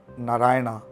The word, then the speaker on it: नारायण: की उत्पत्ति हुई है और शिव हैं, शिवा नहीं है। राम है, नारायण है, तो ये नारायणा रामा नहीं है।